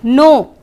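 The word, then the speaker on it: know: No. Can you recall? Okay, we'll see the word now. K-N-O-W, no. You pronounce it the same. It sounds the same.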